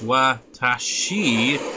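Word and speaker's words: わたし: But really, if you like get down all the way to the syllables, it's watashi, but instead of saying she, it's tachino. You just skip that e in she.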